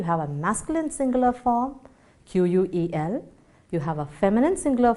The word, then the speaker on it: quel: Pronunciation of all the 4 words is quel. Okay, it goes just quel.